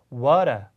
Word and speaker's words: water: T는 미국 사람들처럼 미국 사람들처럼 하고 R 사운드는 영국 사람들처럼 해서 butter, water 이렇게 발음해요.